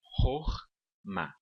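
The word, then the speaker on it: חָכְמָה: Como sabemos que a última sílaba é a sílaba tônica, sabemos também que essa primeira sílaba aqui é uma sílaba átona.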